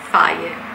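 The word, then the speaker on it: Fage: Faye, sì, si pronuncia così.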